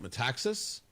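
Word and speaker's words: Metaxas: But in all of these things, and there's this really fascinating story about this uh radio host Um I never pronounced his last name right. Mataxis. That's it.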